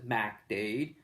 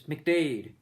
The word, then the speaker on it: MacDade: has all the bars is McDade, but it's spelled MacDade. Nobody says MacDade. It's McDade. So it's a very short McDade. You know, McDade, not like Mick something like McDonald's.